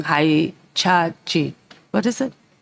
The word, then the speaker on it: Hitachi: I'm sure I'm pronouncing this wrong. Hitachi. What is it? Hitachi.